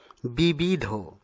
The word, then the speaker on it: বিবিধ: গহ্বর, আমরা ভুলবশত গহ্বর উচ্চারণ করে থাকি, ঠিক পরেরটি বিবিধ, এই শব্দটিকে আমরা অনেক সময় বিবিধ উচ্চারণ করে থাকি, যা অশুদ্ধ, শুদ্ধ উচ্চারণ হচ্ছে বিবিধ।